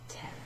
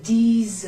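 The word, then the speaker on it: dix: We've just had 6. So, this one rhymes with that word. 10, okay?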